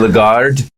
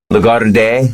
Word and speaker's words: Lagarde: bank uh their president christine lagarde legato day i don't know she might be swiss uh that's good pronounce it lagarde uh is she's drawn